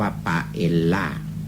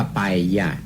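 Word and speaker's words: paella: อ่าน ว่า ไป ยาก เพราะ ว่า Double L นั้น เป็น ตัว ยอ น่ะ ๆ อ๊ะ แต่ ผม เคย ออก เสียง แบบ สเปน มี แผนที่ จะ ออก ตาม ตัว อักษร ว่า ปลา เอลลา ซึ่ง คน ไทย คุณ อยู่ กับ คำ นี้ ถ้า ไป บอก ว่า อยาก กิน ไป เอลลา ใน สเปน ท่าน จะ ไม่ ได้ กิน ต้อง ออก เสียง ว่า ไป อย่า ถึง จะ ได้ รับ ประทาน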